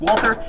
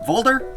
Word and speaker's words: Walther: And yes, it's pronounced Walther. You either pronounce it Walther or Walther.